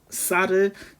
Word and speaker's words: 쌀: 그래서 이분도 이제 경상도 분이라서 쌍시읒, 쌀을 살로, 그리고 소싸움을 소싸움 이렇게 하는데, 여기서 보면은 이제 자음의 수도 줄어드는데 이런 쌀 같은 쌍시읒도 시읒으로 발음을 해버립니다.